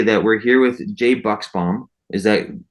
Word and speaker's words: Buchsbaum: wanted to say that we're here with Jay Buchsbaum. Is that correctly? I was pronouncing perfect, your name.